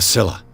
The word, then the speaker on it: Scylla: A Scylla. It finished up beached at the entrance to the harbor. I did pronounce it right.